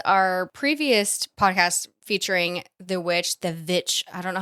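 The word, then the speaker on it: VVitch: previous podcast featuring the Vitch. I don't know how to say it. Like two V's. The Vitch.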